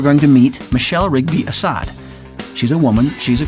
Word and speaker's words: Assad: today is Michelle Rigby Assad now is an Assad or how do you say you last that's correct you got it Assad because it says in your book that the pronunciation of the last name Assad is a